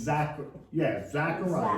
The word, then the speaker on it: Zechariah: Zechariah or Zachariah? However you want to pronounce it. No, there's one Zechariah and Zachariah. They're two similar names. Oh, it's Zechariah.